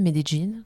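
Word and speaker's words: Medellín: On était donc en Colombie à Médéine, Medine comme on prononce aussi et on habitait en fait en Colombie.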